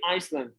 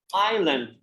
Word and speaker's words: island: But don't say Iceland. Island. Island, as we do not pronounce.